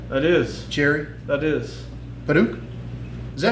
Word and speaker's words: Padauk: Padauk? Is that how it's pronounced?